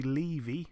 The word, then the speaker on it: Levy: She stepped in the ring with Stevie Levy. That's how her name is pronounced. She's now 10-3, Stevie Levy, but like I say, unanimous decision over 10-2s for Tycee Gallagher, now 8-2.